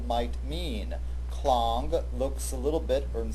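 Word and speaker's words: Klang: first syllable might mean clang looks a little bit and certainly could be pronounced like the English word clang which is some sort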